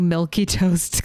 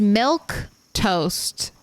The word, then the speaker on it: Milquetoast: a weird dumb word it's milk toast it's it's a made of word it's based off of the comic book character Casper milk toast but because Casper milk toast comic was invented I